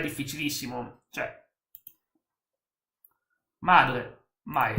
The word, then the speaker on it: mãe: Cioè, madre, mai. Mãe, Mai si pronuncia.